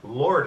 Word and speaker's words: Lourdes: with L Luke Crowley today and his wife Lord this am I pronouncing that correct yes all right now now